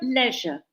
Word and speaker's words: leisure: So, leisure. So, this quite simple. 2 syllables, leisure, leisure.